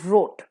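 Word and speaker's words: wrought: too much sugar drinks रॉट बट इट इज़ अ in beginning with W लेकिन pronunciation इसका रॉट ही होगा इसका मतलब है बनाना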